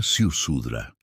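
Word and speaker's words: Ziusudra: La palabra, transcrita con esfuerzo, se pronuncia Siusudra.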